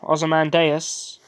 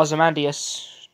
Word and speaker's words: Ozymandias: ] from the original Ozymandias or as a man deus depending on how you say it the guy who